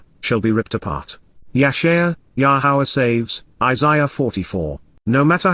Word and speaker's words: Yahowah: nature, the abundance, value, and rewarding gift, of Yahowah, the proper pronunciation of the name of Eloah, God has